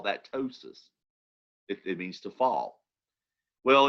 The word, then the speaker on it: ptosis: or away and then ptosis with a silent p ptosis means to fall okay